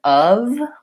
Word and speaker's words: of: all of those cases there is one word that's spelled with letter F but that has the V sound and that's the word of we really should spell it more like so the V sound itself